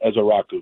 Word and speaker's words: Ezeiruaku: Ezeiruaku, I always pronounce it incorrectly. Can you correct me on that? It would be Donovan Ezeiruaku.